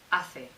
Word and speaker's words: hace: Hace.